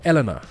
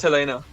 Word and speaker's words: Helena: Is it Helena or Elena? How do you guys... Elena? How do you pronounce Yeah, it? it's Helena.